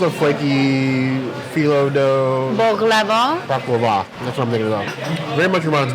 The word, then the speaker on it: baklava: It's that flaky, like the flaky dough, like Chris, like what was it, bacava? I always pronounce that word wrong. It's a flaky phyllo dough. Baklava.